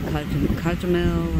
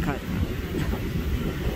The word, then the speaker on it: Cozumel: Last time I was in Cozumel, it's like, I hear people pronounce that Cozumel and all that and stuff. It's just Cozumel.